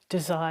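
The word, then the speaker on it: Dzire: Desire. Desire. Desire is spelled d z i r e.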